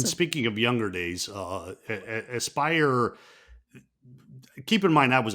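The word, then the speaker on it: Aspyr: it because I think it's asper that's doing the trilogy I think oh Aspire I've been saying it wrong yeah I figured they're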